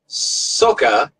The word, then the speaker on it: Sokha: release labor activist Sam Sokha and criticized Thai authorities for sending her back against her will. Wait, did that have a silent H at the end too?